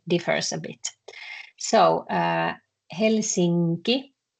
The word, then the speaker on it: Helsinki: So we don't say Helsinki, we say Helsinki.